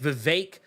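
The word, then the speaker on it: Vivek: name is had with with vake rhymes with snake uh ramma Swami uh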